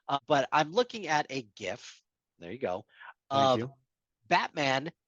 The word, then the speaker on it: GIF: Uh, but I'm looking at right now a GIF. GIF, GIF, whatever. Of GIF. Fine. Okay. Hard G stands for graphic.